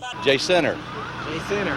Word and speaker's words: Jacinto: Jacinto in Texas but don't pronounce it that way J Center yeah if you say adjacent oh you are obviously from out of town the J Center fourth